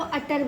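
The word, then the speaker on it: utter: अ U double T ई आर को अटर पढ़ते हैं। यूटर नहीं पढ़ते।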